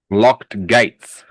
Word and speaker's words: locked: So we don't pronounce the E D as E D. We pronounce it as a soft T.